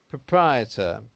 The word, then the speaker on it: proprietor: Actually, you would pronounce this word proprietor.